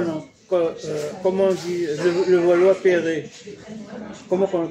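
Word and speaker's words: Levallois-Perret: Comment on dit le Valois-Perret? Comment on le prononce?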